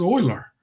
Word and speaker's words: Euler: stubborn about why is this so difficult to pronounce it as euler or why is it so difficult to pronounce